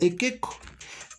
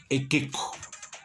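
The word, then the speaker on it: iqiqu: Por ejemplo, la palabra ekeko se escribe ikiku, pero se pronuncia ekeko.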